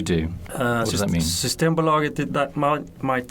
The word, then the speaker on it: Systembolaget: Systembolaget.